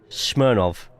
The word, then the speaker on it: Smirnov: It's pronounced as a V, not a W. So it's like the vodka. Smirnov.